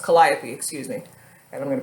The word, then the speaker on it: Calliope: gonna take Calliope II karaoke Calliope II Oh Calliope is totally how this pronounced Calliope excuse me and I'm gonna put that in